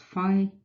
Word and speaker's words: phi: Well, that number, pronounced phi, is the famous golden ratio, which is defined